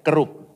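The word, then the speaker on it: kerub: Tapi kalau dalam bahasa Inggrisnya itu ee ini ya ejaan Indonesianya kerup. Kerup kerup bukan kerop keropi itu kata saudaraku ini.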